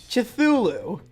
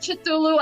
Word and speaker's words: Cthulhu: I've heard it pronounced multiple ways. Yeah. Like, I think technically the lore I think is it's supposed to be unpronounceable. Yeah. But I've heard Cthulhu. I've heard Cthulhu. I've heard that the H is silent, so it's Cthulhu.